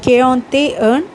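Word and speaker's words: quarante et un: 41 சொல்லும்போது ஈயை வந்து ஏ மாதிரி 2 தடவை ப்ரொனவுன்ஸ் பண்ண வேண்டாம், ஒரு தடவை ப்ரொனவுன்ஸ் பண்ணால் போதும். அப்போ கேஆந்தே ஏர்ன்.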